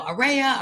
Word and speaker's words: Aurea: in person you know you can't pronounce my name it's you know ARA Aurora a and many people say you can remember it like ARA ARA Sunshine but many of you